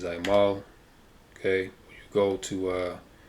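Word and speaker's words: עָמֵל: The correct pronunciation is Aimal.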